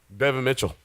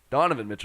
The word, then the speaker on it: Donovan Mitchell: mention topics this is got one minute left Bevan Mitchell any thoughts who is Devon Mitchell pronounce his name wrong Donovan Mitchell Donovan is he's back is he back so